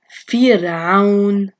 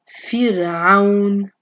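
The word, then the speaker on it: فرعون: And then there's the second case when the Ra has an original sukoon and before it is Kasra. So here's the Ra with the original sukoon and before it is the Kasra on the Fa right here. So it's Fir'aun, Fir'aun.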